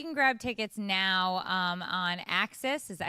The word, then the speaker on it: AXS: Okay, well, you can grab tickets now on Axis.